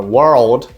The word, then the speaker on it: world: Quando eu coloco o L depois desse R para transformar na palavra world, que é mundo, eu vou juntar esse meu R com esse finalzinho do L, ó. World, world. E aí eu vou jogar meu D. World, world.